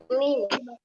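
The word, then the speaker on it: ميم: Mim. Ya, mim. Ketika tidak ada harokat, maka kita mengucapkannya dengan huruf aslinya. Jadi ini bukan ma. Ma itu setelah dia diberikan harokat fathah. Nah, ini baru dibacanya menjadi ma.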